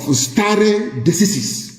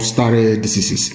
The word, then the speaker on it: stare decisis: According to the doctrine of stare decisis, it means that anytime you have a case involving Fulani headsmen and anybody, the pronouncement of Honorable Justice Adewale Thompson must hold sway.